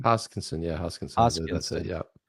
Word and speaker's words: Hoskinson: Is that how you pronounce his last name? Hoskinson, yeah, Hoskinson.